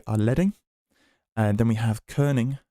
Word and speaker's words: leading: we can show you from the start so leing is uh a bit of an odd spelling it's actually it's actually spelled like leading um but it's called leing it